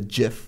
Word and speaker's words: GIF: been lost I think it's now officially gift the the the masses have decided it's his how it's pronounced yeah I never I never caught the jiff wave really I start on